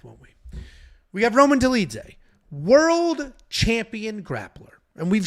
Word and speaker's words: Dolidze: We have Roman Dolidze taking on Nasruddin Imavov.